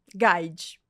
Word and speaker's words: Guide: rede social é @c guide é um trocadilho que eu fiz com meu sobrenome que embora seja italiano já vou deixar isso claro aqui que é de guid a pronúncia eu fiz uma brincadeira